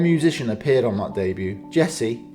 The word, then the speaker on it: Djesse: appeared on that debut Jesse a combination of his initials with a silent D was intended to be